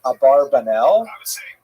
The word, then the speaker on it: Abarbanel: One of the most popular versions in America is Abarbanel.